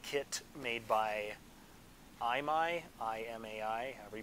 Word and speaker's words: Imai: bSpace 1999 eagle kit made by i'm i Imai we pronounce it this kid is one whatever we